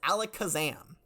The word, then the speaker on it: Alakazam: Canter region but normally in most regions it's pronounced Alakazam ah Alakazam okay all right yes which is a extremely